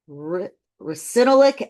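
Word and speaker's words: ricinoleic: It's rich in recinolic acid.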